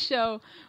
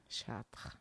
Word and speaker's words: Chartres: the in the American if I say sh people say what's that so it's it yeah you have to have the r otherwise it just doesn't sound most people